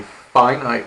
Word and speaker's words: finite: Well, the reason S, the set that we just looked at, is called a finite relation, F-I-N-I-T-E is pronounced finite, is because you can count how many ordered pairs there are in S.